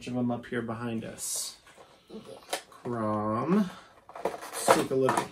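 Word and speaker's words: Chrom: This one, this CH makes a K sound. Krom. Krom. His name is Krom.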